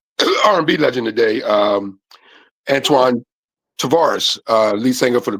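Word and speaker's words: Tavares: Tvaris is spelled uh T A V A R E S. Tvaris.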